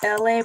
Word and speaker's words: ELAY: My name is LA, pronounced like LA, like the city, but I'm breezy at 18 Eastern Standard Time on the some people say thumping Thursday.